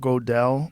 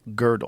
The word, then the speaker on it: Gödel: And I think was it Kurt Gödel? Like how do you say his name? Gödel? It's that weird Umlaut. Yeah. Yeah. How do you say it? What's the name? Gödel.